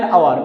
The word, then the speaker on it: hour: An honest man, An honorable man, honorable person, not honorable, an hour, not hour. Okay, so you cannot pronounce them here, honest, honorable, hour.